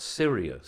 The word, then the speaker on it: Sirius: You just said that Cyrus is not a constellation. It's a Cyrus, well, you said Cyrus. We're talking about Sirius.